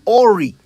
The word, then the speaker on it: awry: Awry. Another commonly mispronounced English word. I often hear people say awry when they mean to say awry.